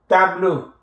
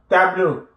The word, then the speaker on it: tableau: We said that when a noun ends with E-A-U, which is pronounced O, that noun is masculine, right? Masculin. So, is le tableau, le tableau, le tableau.